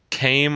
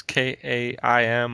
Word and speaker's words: Kaim: The main character's name is, it's Kame, I guess. It's K-A-I-M. I'm just going to go with Kame is how you say it, or Kaim.